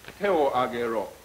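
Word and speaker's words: 手を上げろ: It's te o agero.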